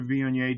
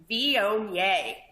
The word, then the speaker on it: Viognier: But if you're going to have a Monday, make it a Viognier day.